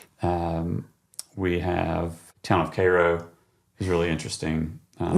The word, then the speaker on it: Cairo: Um, we have Town of Cairo is really interesting. Um, not Cairo. I've heard you talk about this before. Cairo. Definitely Cairo. Um, I do a whole